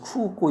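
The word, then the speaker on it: 空港: 왜냐면 수없이 많이 읽어봐야 되기 때문에 그렇고 제가 저번에 인트로덕션인가 뭐 첫 번째 강의에서 쿠우꼬 이거 말씀드렸을 때 엄청 길게 발음된다고 그 일본에 만나서 발음을 할 때가 쿠우꼬죠.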